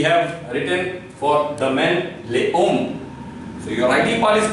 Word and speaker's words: les hommes: So it is coming in between vowel, therefore it will give Z sound.